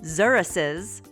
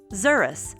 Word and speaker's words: xerus: like a wolf zuris did you know xeruses are pronounced Zer plus Us xurus in the singular form